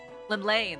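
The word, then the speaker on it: Llymlaen: Lim Lane. That's how it's pronounced.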